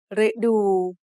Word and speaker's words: ฤดู: So the word ฤดู has two syllables. The first syllable is made up of the letter รึ It is high tone because it acts like a low-class consonant with a dead syllable ending and a short vowel.